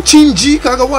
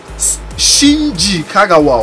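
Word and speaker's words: Shinji Kagawa: packs oh how you say his name though chin kagwa let me check Shin Kagawa oh his name is too strong oh my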